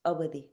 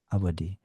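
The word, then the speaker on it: Awadhi: Did I pronounce that properly? How do I say the name of the language? It's Avadi, Avadi.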